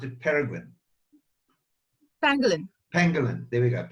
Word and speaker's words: pangolin: All right, I'm going to ask you this question because I know that is the right way to pronounce it pangolin?